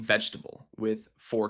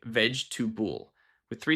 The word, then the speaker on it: vegetable: Mistake number 32, saying vegetable with 4 clear syllables. Native speakers usually pronounce it more like vegetable with 3 syllables.